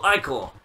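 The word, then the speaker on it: ichor: can feel it magical I core that's pronounced I core choose your I call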